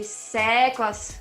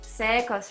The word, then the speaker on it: SECOS: Then number 2, the way you pronounce it, you say secos, secos, right? So, Yeah. so that's why this E is a little bit longer, so that, you know,